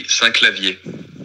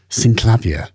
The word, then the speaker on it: Synclavier: clavia said in French I say s clavier that's how I pronounce it in French but if I were to say it in English I would probably say cavier sin clavier s clavier Sin clavier